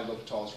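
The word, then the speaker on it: L'Hôpital: And if you have to look it up, it's spelled two different ways. L apostrophe hospital or L apostrophe hospital without the S. In both cases, it's pronounced L'Hopital. It's one man.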